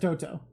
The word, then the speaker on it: Toto: Chat saying it's pronounced Toto.